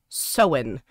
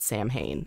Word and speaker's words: Samhain: began with an s right yes uh it's pronounced so in but it looks like it's spelt samhain and a lot of people pronounce it samhain and it's not it's so so when yeah